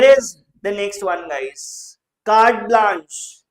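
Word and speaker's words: carte blanche: Card blanch is what is how it is pronounced. I am not very very familiar with the pronunciation of these foreign phrases but I know this one.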